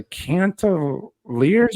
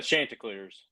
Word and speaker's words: Chanticleers: where the Coastal Carolina, and I believe I pronounced their mascot right, the Cantaliers or something? Yeah, the Chanticleers.